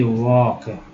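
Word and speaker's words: walk: D silent, जी silent, L silent, L मतलब silent, यानी कि एक वर्ड ले लेते हैं एल के से रिलेटेड। तो ये देखिए वॉक, वॉक, वॉक मीन्स क्या होता है, टहलना होता है।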